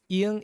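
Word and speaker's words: 이응: Iang is the only one that has no sound, but it's a letter.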